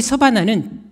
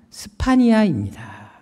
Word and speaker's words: 스파니아: 여기 서바나는 정확한 발음으로 스파니아입니다.